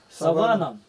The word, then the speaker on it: саван: Саванна не одевает. Саванна это степь. Степь, где животные пасутся. А саван, ударение на это одежда смертного человека.